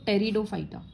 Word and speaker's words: टेरिडोफाइटा: इसमें P silent रहेगा तो टेरिडोफाइटा.